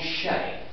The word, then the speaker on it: Xe: heard of a company called Shay right anybody heard of Shay okay one that's about normal well don't waste your time Googling it until I told you a little bit more because it's not spelled like it it's not spell Fally it's spelled XE but don't waste your